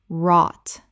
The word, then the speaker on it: wrought: nome nome Word 189 wrought Common mispronunciation rawt Correct pronunciation rawt The w is silent. The gh is silent. It rhymes with caught and thought.